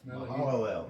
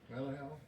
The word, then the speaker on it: Mahalalel: Anybody want to try their luck at pronouncing the next one? Mahalalel. Yeah. Malahel? What's that? Malahid? Mahalalel. Yeah, he hit it dead. Merrill here hit it dead on the target.